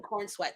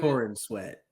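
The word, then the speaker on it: Corenswet: corn sweat I can't I really hope that's not how you say his name no no no no no no well no that kind of does look kind of like his name David Corin sweat yep sure is um my name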